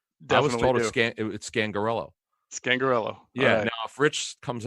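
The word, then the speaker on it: Scangarello: know what it is because people have problems pronouncing his name that was it scan gorilla scan gorilla yeah fridge comes out if he's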